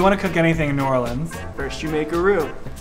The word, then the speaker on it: New Orleans: Max, it's pronounced New Orleans.